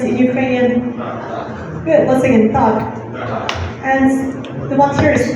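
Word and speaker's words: так: Good, once again, tak.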